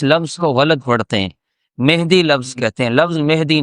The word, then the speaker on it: مہدی: نے ہدایت عطا فرمائی۔ تو یہ مہدی لفظ یہ غلط ہے، لوگوں کو اس کا علم نہیں ہے، وہ اس کو غلط تلفظ کے ساتھ پڑھتے ہیں۔ لفظ کیا ہے اصل میں؟ مہدی، میم کے زبر کے ساتھ۔ اللہ جل جلالہ ہم